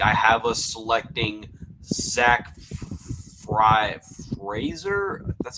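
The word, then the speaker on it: Frazier: So with the Giants pick, I have us selecting Zach Fraser.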